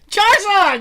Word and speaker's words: Charizard: '90s he I don't even know how to pronounce it car's name well let me let me try Charizard Charizard that's exactly right yeah was a rare find